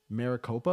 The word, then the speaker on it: Maricopa: Trump with Trump 49.8 to 49.4 and then Maricopa is that how you pronounce it yep yep uh right now Harris